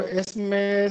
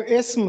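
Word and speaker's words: اسم: है सिफत, तो इसको इसमें सिफत पढ़ना है। और इसके साथ जो दूसरा लफ्ज था वो इस्म था, इसम नहीं है। बहुत से लोग इसको इस पढ़ते हैं, ये दुरुस्त तलफ्फुज है इस्म, इसमें सिफत।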